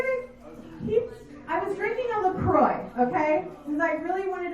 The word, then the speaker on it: LaCroix: And I was drinking a LaCroix, and he came up to me and he goes, you know it's pronounced LaCroix.